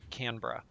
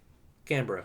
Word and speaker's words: Canberra: I disagree with Australia on the spelling vis-a-vis the pronunciation, but the official pronunciation is Canberra. Canberra. Okay, Yeah. good to know. Because I've been calling it Canberra, and I'm like, okay, That is how it's spelled.